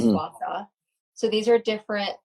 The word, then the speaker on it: gua sha: And then one of the best things is just either jade rolling or gua sha, pronounced gua sha.